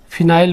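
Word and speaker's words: phenyl: फिर इधर देखो इसमें मैथिल है और इधर है फेनिल, तो मैथिल में फेनिल की स्पेलिंग P से शुरू होती है, देखो इसको ऐसे फिनाइल बोलते हैं, तो ये फेनिल P से शुरू होने वाला है।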